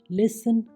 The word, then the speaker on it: listen: Next, TE, ये भी कई बार साइलेंट हो जाता है। HASTEN हैसन, जल्दी करना। LISTEN लिसन, सुनना। OFTEN ऑफन, अक्सर या प्रायः। SOFTEN सॉफन, कोमल बनना।